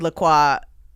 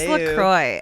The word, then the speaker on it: La Croix: people are like, "It's Lacroy." And I'm like, sure, that's the Americanized pronunciation of this, but that's not how you would pronounce it. It's clearly a French word.